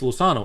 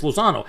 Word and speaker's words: Lozano: was more unique because in english lausanne was lozano in spanish it's lusano and italian it's lozano it sounds the same so i ended up